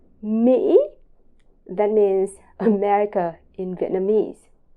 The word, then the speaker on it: Mỹ: And finally, both of the letter I and the letter Y in Vietnamese are pronounced very similar to in the word she or she. It's very simple. Mỹ, Mỹ, that means America in Vietnamese.